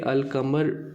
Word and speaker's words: القمر: حروف قمری کہتے ہیں، کیونکہ القمر پر جب الف لام لگائیں گے تو لام کی آواز ظاہر کی جائے گی۔ یہ اصول صرف عربی